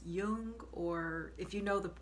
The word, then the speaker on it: Jung: last name wrong, but his last name is spelled J U N G, but I think it's pronounced Yung or if you know